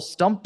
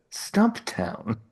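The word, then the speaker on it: Stumptown: for my scattered brain I'm drinking a powerful stumpt in coffee it's the white can and it might be crack cocaine oh boy I like that you call it stumpt what how do you pronounce it stump town oh I definitely say stumpt from now on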